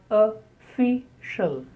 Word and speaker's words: official: Official. Many words containing O in the beginning are spoken as a.